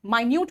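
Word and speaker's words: minute: बेटा मिनट्स कहा मैंने माइन्यूट भी सेम स्पेलिंग होता है।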